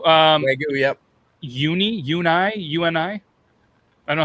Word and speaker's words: Wagyu: Is that how do you say Wagyu? Wagyu. Wagyu. Wagyu, yep.